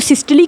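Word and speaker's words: systole: तो इस स्टेज को सिस्टली स्टेज कहते हैं। सिस्टोल कह लें, सिस्टली कह लें। वैसे सही लफज़ सिस्टली है। लेकिन ज्यादातर लोग सिस्टोल ही इसको प्रोनाउंस करते हैं।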